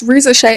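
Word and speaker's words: Risacher: That's why Razarka, and my bad guys, I keep calling him Razarka, but it's Rizashay.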